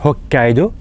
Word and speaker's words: Hokkaido: représentée ici qui est Hokkaido Hokkaido vous entendez bien que je prolonge la prononciation du K hokido parce qu'il y a deux k en fait Hokkaido donc c'est petite sous